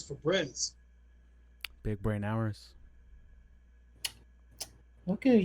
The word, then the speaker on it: Febreze: So if you have Febreze with an E at the end, that's what makes it sound a Febreze. If you take the E, that last E out, it's Febreze.